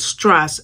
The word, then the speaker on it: Strasse: And it tells you that it's as like if the doctor tells you say when he's looking at your throat.